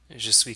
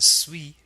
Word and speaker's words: suis: Normally the final S in suis is a silent consonant. Je suis. But in the sentence it is pronounced. Je suis américain. This is the French liaison at work, because the very next sound after suis is a vowel sound, américain. We pronounce the S as a Z sound.